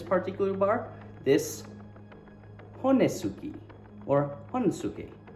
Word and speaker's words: honesuki: I've toured with so many Japanese bands in Japan, and yeah, so I'm gonna keep trying to say it properly, as you say, Honsuke, but if I say Honesuki and it really bothers you, then I'm sorry,